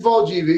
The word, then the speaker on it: Valdivia: Felipe Valdívia, E- isso.